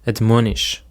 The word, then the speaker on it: admonish: Now let's have another word which is admonish. Admonish. The stress is on the second syllable.